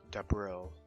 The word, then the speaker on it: Debril: It's like Da and April, but with a B. Debril.